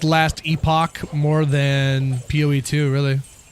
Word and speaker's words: Epoch: Is it epic or epoch? Hello. How do you pronounce it? I get told all the time and I always forget. Oh, it is epoch.